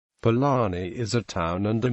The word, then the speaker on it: Palani: Palani is pronounced using the retroflex approximate R and is thus also spelt using the ZH digraph as Pajani.